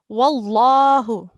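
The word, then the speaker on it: وَاللَّهُ: Or if it carries a dhamma, we pronounce the lam mushadda thick. Wallahu.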